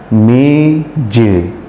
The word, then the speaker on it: meja: Contoh, ada kata meja. Tulisannya meja, namun dalam bahasa Bali disebutkan meje. Tulisannya tetap meja, namun dalam bahasa Bali disebut meje.